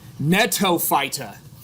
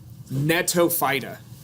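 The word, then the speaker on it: Gnetophyta: then the last one natto fighter with a G right like you see a silent G at the end of sign but not at the beginning man that's awesome natto fighter now these of all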